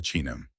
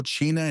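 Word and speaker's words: Qin: También fundó la dinastía Chin, pronunciada Chin, que dio su nombre a China.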